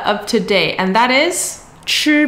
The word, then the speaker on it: 彳: So this radical is actually pronounced as 吃, but a lot of people will refer to it as the side with the two 人 s.